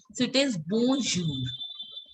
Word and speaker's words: bonjour: N sound has to be very subtle. It should not show that you are pronouncing it. So it is bonjour.